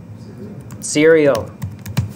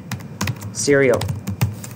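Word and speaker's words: SERIAL: agree sequel y'all remember how to say it Syrio there you go somebody's paying attention cereal you can also say identity in version 10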